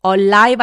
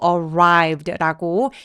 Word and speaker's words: arrived: 된 소리를 내린 편입니다 Spring arrived Alive 아니고 arrived라고 입술 쭉 내밀어서 바음 주의해 주세요 자 one day 어느